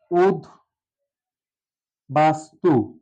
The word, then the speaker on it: উদ্বাস্তু: দেখব দ যোগ ব্য দ এর সাথে যদি ব ফলা যুক্ত থাকে কোন শব্দের মাঝে বা শেষে অবশ্যই বয়ের উচ্চারণটা থাকবে শেষে আমরা নিতে পারি উদ বাস্তু এই শব্দটাকে কখনো আমরা